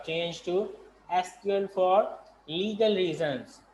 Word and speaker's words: SQL: Today many people still pronounce एसक्यूएल एज अ सीक्वल, तो हम भी इसको अक्सर सीक्वल ही बोलते हैं, एसक्यूएल को सीक्वल बोलते हैं। Though the official pronunciation is SQL, Structure Query Language.